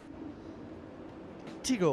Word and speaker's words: Tiago: lot fluffier looking and teego or we guess you should pronounce it and just ignore the spelling it's tough as latest